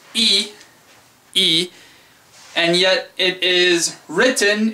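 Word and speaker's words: い: actually an i e it's pronounced e written as an i and it is one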